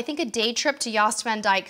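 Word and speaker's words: Jost Van Dyke: I think a day trip to Yost Van Dyke sounds like just what you're looking for. Yost spelled with a J, J-O-S-T.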